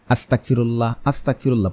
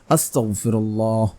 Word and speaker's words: আস্তাগফিরুল্লাহ: ইস্তেগফার অনেকে ভুল করে পড়ে, আস্তাগফিরুল্লাহ পড়ে, এভাবে নয়, আপনাকে পড়তে হবে আস্তাগফিরুল্লাহ, আস্তাগফিরুল্লাহ, আস্তাগফিরুল্লাহ, আস্তাগফিরুল্লাহ, এভাবে পড়তে হবে।